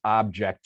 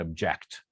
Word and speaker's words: object: these different pairs and if i ask you what distinguishes object from object you say well the the first syllable is stressed um an object and the second syllable is stressed and object okay object object okay